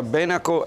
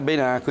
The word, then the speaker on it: Benaco: Benaco seconda dei casi Sapete che la pronuncia Benaco è Bresciana Benaco invece è sullo sfondo Veronese un termine di origine Gallica